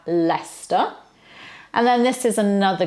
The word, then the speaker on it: Leicester: Worcester and Worcestershire then we don't have life Esther we have Leicester and then this is